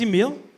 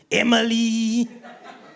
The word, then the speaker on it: Emile: So mine is spelled E-M-I-L-E. The last E is silent. But some people just do what they want. And they call me stuff like Emile, Emily, even email.